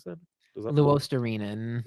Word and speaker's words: Luostarinen: Is that Luostarinen. Luisterainen?